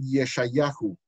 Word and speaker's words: Yeshayahu: primeros que aparecen allá, tenían la costumbre de agregarle una letra U al final, de manera que lo pronunciaban Yeshayahu y Yermiahu para Isaías y Jeremías.